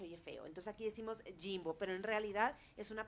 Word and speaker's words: Ximbo: oye raro, pero bueno, en realidad se dice Jimbo, esa es la palabra, pero claro que he sido advertida 1,000,000 de veces que aquí se puede confundir.